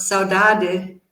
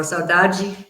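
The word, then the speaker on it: saudade: untranslatable like for example the Portuguese word Sadi in in in Port in European Portuguese pronunciation or saaj Brazilian it it it means something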